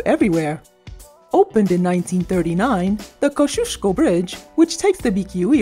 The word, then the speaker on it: Kosciuszko: up everyone always said koskiasko but according to the polish community we were wrong all along it's pronounced kosciuszko so don't get it